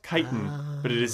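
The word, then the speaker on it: chitin: She calls him Chitten Cheeks, but I turned on the closed captioning to make sure it was this. The word is actually kiten, which is a chemical found in arthropod exoskeletons.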